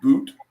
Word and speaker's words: Boutte: Do you say his name Boot? Boutte.